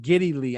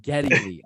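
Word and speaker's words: Geddy Lee: said if I said if I said giddy Lee I meant Getty Lee I'm sorry all right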